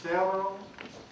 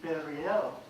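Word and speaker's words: Beryel: It's Beryl Doris. She's right back there. And her name is spelled B-E-R-Y-E-L, so I think it should be Beriel. But she said no.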